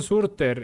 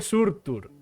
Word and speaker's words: Surtur: Creo de hecho, por cierto, que lo llaman Surter en Ragnarok. Y me da algo, en serio. Las pronunciaciones en el doblaje de Ragnarok me da algo, ¿sabes? Me ponen así, es como yo. Se dice Surtur.